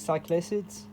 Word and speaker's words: Cyclacet: The last one is cyclic acids. It smells like balloons. So sorry if I'm not pronouncing it right.